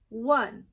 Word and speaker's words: one: a number word and this word says one so one is spelled o n e one one finger we are also going